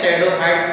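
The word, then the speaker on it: Pteridophyta: Fern का मतलब एक प्लांट्स का नाम है जिसको हम जो है टेरिस भी बोलते हैं, टेरिडोफाइट्स के अंतर्गत आता है। टेरिडोफाइटा की जो हिस्स होती है पी साइलेंट होता है।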